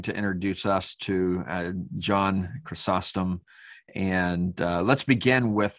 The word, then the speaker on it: Chrysostom: syllable um but in in greek of course it would be crisostomos so uh you know you can say that as well um i mean i tend to say chrysostom because that's what i tend to say uh but if you if you say chrysostom that's fine so either is possible um in english good